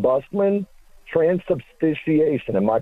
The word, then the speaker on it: transubstantiation: And he was saying, Busman, transubstantiation. Am I pronouncing that correctly, Matt?